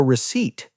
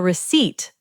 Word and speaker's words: receipt: They will say, "Would you like a receipt?" A receipt. Listen to that word carefully, everyone. Receipt. The letter P is silent.